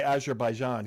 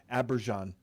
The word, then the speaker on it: Azerbaijan: Well, he didn't say Azerbaijan. He said Yeah. Aberjan. Right, he pronounced the name wrong.